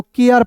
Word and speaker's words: care: तो हम लोग इसे क्या पढ़ेंगे दोस्तों, देखेंगे C का उच्चारण क के रूप में करेंगे, C का उच्चारण क के रूप में। और याद रखना ARE है तो इसका उच्चारण भी अब देखिए एयर के रूप में ही करना है, आर के रूप में नहीं करना है, एयर के रूप में। तो यहाँ देखेंगे CARE को केयर पढ़ेंगे, क्या पढ़ेंगे, केयर।